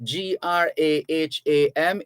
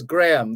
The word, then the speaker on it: Graham: name is correctly pronounced g-r-a-h-a-m is graham the h is silent the h is silent